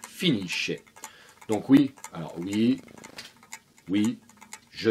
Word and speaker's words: finisce: Je vais donc prononcer finisci, finisce.